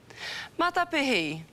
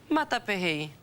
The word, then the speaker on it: Matapihi: Matapihi. Window. Matapihi.